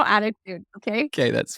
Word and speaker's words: ADDitude: Attitude magazine. Is that the way you spell attitude? I always call it ADDitude, but it's attitude, right?